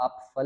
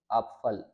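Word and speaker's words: Apfel: भी यही रूल है अब इसको हम आप फल नहीं पढ़ते आप फल आप फल यान कि पे की साउंड ना होने के बराबर आप साइलेंट के बराबर ही समझ फल अब जो फलां से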